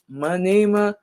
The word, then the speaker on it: Manima: So, yes, you guys, we decided to go with Mimi because our righteous name is Manima. It's pronounced, wow, Manima.